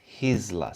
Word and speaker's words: Gisela: It's Hisla, so the G is a H.